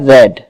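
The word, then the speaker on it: read: second form क्या है spelling तो इसकी आर ई एडी यही है जो कि फर्स्ट फॉर्म में थी लेकिन इसको प्रसेट कैसे किया जाता है इसका उच्चारण क्या रखा जाता है रेड इसको आप कैसे रीड करोगे लिखोगे आरडी लेकिन बोलोगे रेड तो इस रेड का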